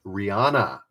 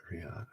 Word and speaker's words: Rihanna: Rihanna. Rhymes with Hannah? Rihanna?